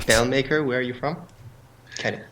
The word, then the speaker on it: Belmakor: It's Belmakor. There's no E in after the K. It's a K-O-R. It's Belmakor.